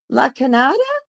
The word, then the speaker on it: La Cañada: La Canada?